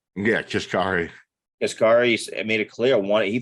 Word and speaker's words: Kashkari: I saw, how do you say Kaskari? Kashkari.